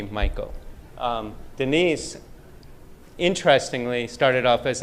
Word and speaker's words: Michael: And next to him is Miss Denise Michael, not pronounced Muiko as Siri does. Every time I call Denise, it says, calling Denise Muiko, but it's actually Michael.